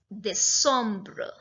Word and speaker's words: décembre: But the pronunciation is absolutely different. So September is septembre. October, octobre. November, novembre. And December is décembre.